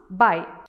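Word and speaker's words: bye: Next one we have B-Y, it's pronounced by. And next we have B-Y-E, it's also pronounced by.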